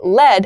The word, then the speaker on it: lead: is led l-e-d l-e-d lead has the same pronunciation as the noun form of l-e-a-d lead as a pencil material and lead past tense of the verb lead it's very confusing i'm